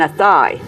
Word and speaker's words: Athea: think no no no you mean a thigh they thought i was mispronouncing it and i'm like no ate at a a-t-h-e-a county limerick very small wow beautiful